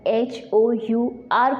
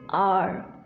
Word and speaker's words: hour: The correct pronunciation is R. And HOUR को आप क्या पढ़ते हैं? Hour. That is not hour. That is R.